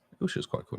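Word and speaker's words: Eilsha: Ilsha? Ilsha's quite a cool name. E-I-L-S-H-A. Ilsha. Ilsha, okay. That is spelled E-I-L-S-H-A.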